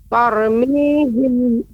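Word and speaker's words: ترميهم: Tarmihim. Ya, ra ini dibaca tebal.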